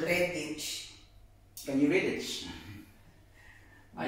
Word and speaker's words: Redditch: Redditch. Redditch as in red and ditch in one word. Redditch.